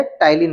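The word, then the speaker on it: ptyalin: पी टाइलीन। P silent है। टाइलीन बोलना है।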